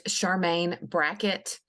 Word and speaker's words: Charmaine Brackett: Rhodes, if you could just say your name so we get the pronunciation right, and then spell it out. It's Charmaine Brackett, and it's CHARMAIN BRACKETT.